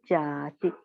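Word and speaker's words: jāti: So Jati. Yeah, it's a long A here.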